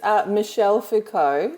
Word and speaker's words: Michel Foucault: the way who is this person this is Michel Foucault Oh Michel thank you my pronunciation was not correct but definitely better than